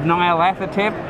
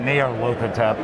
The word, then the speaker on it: Nyarlathotep: I always pronounce it Nyarlathotep.